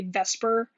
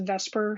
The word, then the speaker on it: VSEPR: theory and we'll say vesper so this acronym is pronounced vesper theory so i'm going to